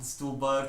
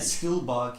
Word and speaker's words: Stuhlbarg: guy from Call Me By Your Name, Michael Stuhlbarg. Hawkeye. Michael who? How do you say his name? I don't know. Who is Yeah, he? Stuhlbarg.